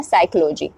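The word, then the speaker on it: psychology: हमारा निमोनिया हो जाएगा उसी तरीके से पीएस पीएस का कॉमिनेशन हम चेक करेंगे साइकोलॉजी में जैसे कि पी S then Y सी एच ओ एल ओ जी वाई का इस्तेमाल हमने किया है बट स्टार्टिंग में हम कॉमिनेशन देख पा रहे पीएस तो हमारा पी साइलेंट हो जाएगा और प्रोनंसिएशन हो जाएगा साइकोलॉजी जिसका मतलब होता है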